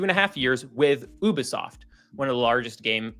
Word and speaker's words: Ubisoft: Ubisoft. Ubisoft. Yeah. I was always I was like Ubie. Ubie. Uh Ubisoft. You can say Ubisoft. It doesn't matter. Americans say Ubi, you know, Ubisoft, but it's Ubisoft. Um cuz I'm cultured.